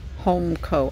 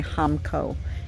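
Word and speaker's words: Homco: little guys are cute homeco i always get corrected when i say hamco it's home co even though it's spelled hamco it's spelled hamco if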